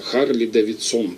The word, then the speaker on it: Харлей: Точнее, он назывался Харли Дэвидсон тогда, это потом уже как бы ударение перенесло, транскрипцию, да, сменили. Харли Дэвидсон, вот первые рекламы. А тогда вот перед войной Харлей привезли уже, видимо, этот